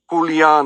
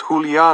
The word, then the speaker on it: Julio: see you are Julian he pronounces my name wrong who Leon I say trying to correct him but I don't think he's listening my name is Julio nice a again yes